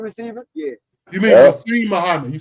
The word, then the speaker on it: Muhsin Muhammad: Anu Muhammad, Yeah, I remember the him. big possession receiver. Yeah. You mean Yeah. Muhsin Muhammad?